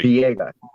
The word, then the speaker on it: Villegas: Villegas. Villegas. Yeah. Maybe it's the way of pronouncing it.